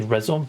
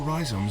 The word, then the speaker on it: rhizome: I want to say rhizome, so I'm glad you pronounced that as rhizome.